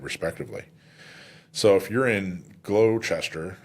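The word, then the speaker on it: Gloucester: so if you're in glow Chester I believe is how you say that County um and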